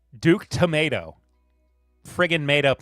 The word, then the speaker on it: Tomato: It's just pronounced tomato? No. Okay, fine. Duke Tomato.